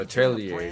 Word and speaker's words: Atelier: You're looking forward to the newest entry in the Atelier series. Oh, Atelier. That's how you pronounce it. Atelier.